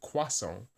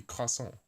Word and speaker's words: croissant: But some people in America pronounce it croissant, right? Which is just not right at all. Because the real French would be croissant with the thing at the back of your throat.